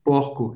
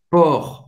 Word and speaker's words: porc: Mas a gente está falando de porco, em francês, porc. Você não vai pronunciar o C.